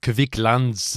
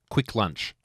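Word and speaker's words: Kvikk Lunsj: So, it's basically like Kit Kats, but it's and it's not pronounced Kavik Lans. It's just quick lunch.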